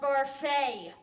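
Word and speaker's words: Barfée: It's pronounced Barfee.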